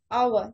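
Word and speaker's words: hour: लेकिन क्या है कि जब हम इसको प्रोनाउंस कर रहे हैं तो हमारे पास इसका साउंड वॉल का आ रहा है।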